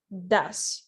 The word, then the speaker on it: does: goes and thus does so the pronunciation of it's a little bit different goes thus even though they are written in a similar way okay we have the